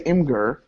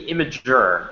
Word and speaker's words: Imgur: And then the second thing see, I was going to say Imgur. Yeah, it's actually supposed to be Imager, but I can't blame you because it's spelled Imgur.